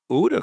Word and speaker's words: OODA: Um, and then where Uda comes is that uh, Uda was it's spelled OODA. It's an acronym.